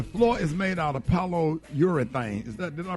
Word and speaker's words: polyurethane: Okay, the floor is made out of polyurethane. Did I pronounce that right?